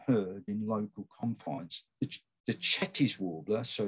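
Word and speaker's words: Cetti's: in local confines the chet is warbler so it's pronounced shetty french after a french zoologist um it's a bird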